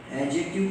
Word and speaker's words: adjective: Adjective clause, and remember in the word adjective D is silent. D is silent. There is a rule. Whenever A, D, J is followed by a vowel sound, whenever A, D, J is followed by a vowel sound, D becomes silent.